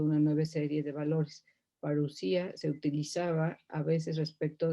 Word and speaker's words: parousia: Reteniendo en mente todo lo dicho, vayamos al Nuevo Testamento y veamos cómo se usa parousia en él.